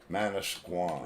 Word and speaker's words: Manasquan: hotel management new jersey you're gonna have to spell that okay m-a-n-a-s-q-u-a-n manish guam yeah what is it it's called the osprey